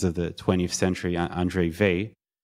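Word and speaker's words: Weil: the 20th century Andre V it's spelled with an L but I learned recently you don't pronounce the L in the end he solved this question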